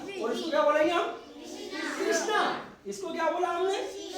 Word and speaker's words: कृष्णा: पृथ्वी है ना और इसको क्या बोलेंगे हम कृषणा कृष्णा इसको क्या बोला हमने शि इसको क्या